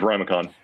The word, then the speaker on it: RiMaCo: rhode island massachusetts connecticut am i saying it right yes it is rhymicon remicon all right so